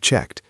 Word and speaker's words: checked: If I If I'd checked my email. Repeat. If I checked my email. Notice the pronunciation of checked. It ends in a t sound. Checked. If I checked.